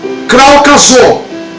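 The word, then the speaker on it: κράζω: E quando falamos de clamar, também vem de uma expressão que vem do grego, ok? Que você pronuncia kraukazô, que significa bradar ou dizer algo em alta voz.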